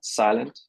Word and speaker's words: SLNT: Silent is how it's said.